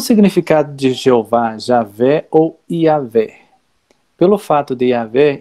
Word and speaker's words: Iavé: Então, seria Iová, ou então Jeová. Porque então, no hebraico não tem o J. Então, o mais próximo hoje é essa pronúncia aqui, Iavé.